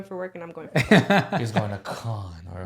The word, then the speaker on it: Cannes: He's going to con, or how do you say to it? Cannes.